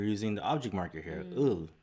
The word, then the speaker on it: 을: ul and ril.